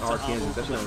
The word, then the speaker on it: Arkansas: or last year I found out it wasn't pronounced Arkansas. It's Arkansas. So this whole time, bro, I've been saying Arkansas, bro.